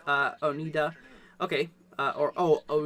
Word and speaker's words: Oneida: let's see here um storm geek says it's pronounced uh Onida okay uh or oh oh Oneida okay thank you so much for uh correcting